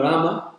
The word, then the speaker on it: Rama: are singing path and we say but technically we should be saying Rama because their Mantra is 33 syllables Ram is a Hindi and uh also in English you have this tendency that we chalk up the final vowel that's like most Latin